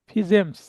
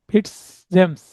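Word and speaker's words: Fitzjames: British আইনবেত্তা স্যার জেমস ফিজেমস বা ফিটস জেমস বা Stephen. মানে ওনার নাম উচ্চারণে এর এই দুই ধরনের উচ্চারণ হয়, হ্যাঁ। জি এখানে টি সাইলেন্ট থাকে, আবার কখনো সাইলেন্ট থাকে না।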